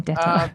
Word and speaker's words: DETR: Is that the pronunciation? I was Yeah, saying DETR. that's Yeah. that's how I pronounce it. Yeah. Well, I mean, Yeah. being that you're in Germany, I think Dieter is more.